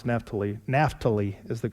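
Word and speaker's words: Naftali: And he sent him messengers unto Asher and unto Zebulun and unto Neptali. And they came to meet them. Now, I know I didn't pronounce Naphali. Nahali is the correct way.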